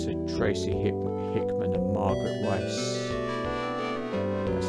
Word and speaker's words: Weis: Basically, and this was thanks to Tracy Hickman and Margaret Weiss, that's how you pronounce her name, was basically, although you had